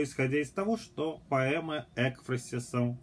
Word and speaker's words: экфразис: Это будут такие слова, как духовная, современная русская поэзия, духовная поэзия, экфразис, правильно это слово произносить с ударением на «э», Аверинцев, живопись в поэзии.